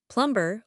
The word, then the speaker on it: plumber: Plumber. Or is it silent like in lamb? The B is 100 silent. It is pronounced Rhymes with summer.